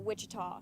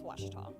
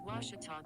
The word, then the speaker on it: Ouachita: at a baptist university back in texas everybody pronounces it wichita but really it's ouachita washington washington how would you pronounce it it's washita baptist university get it right it's washi talk